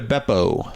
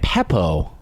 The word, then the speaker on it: Beppo: Bucca de Beppo. B. B, not a P. Where did you get Peppo?